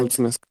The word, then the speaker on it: mulțumesc: Multimesk? Как ты Yes, сказал? mulțumesc.